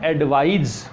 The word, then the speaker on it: advise: इसका प्रोनाउंसिएशन, इसका जो उच्चारण हम करते हैं वो एडवाइस होता है, इसका प्रोनाउंसिएशन क्या होता है, एडवाइज।